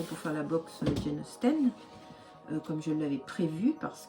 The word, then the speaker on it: Austen: On vous donne des délais, mais il est impossible pour moi d'attendre pour faire la box Jane Austen comme je l'avais prévu parce que le tissu n'est pas arrivé.